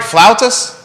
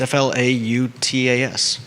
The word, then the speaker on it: flautas: get two flout and you're saying it right flautas flout i mean how else would you say that's f-l-a-u-t-a-s can you say it for everybody flautas oh that's very good clouds i like it